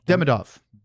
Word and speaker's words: Demidov: Demidov? Demidov.